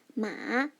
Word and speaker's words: 马: The first one, 马 m, a, 马. Pay attention, it's the dipping tone, it's the third tone.